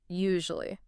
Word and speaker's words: usually: Actually, it has a soft buzzing z sound in the middle like the s in the word measure.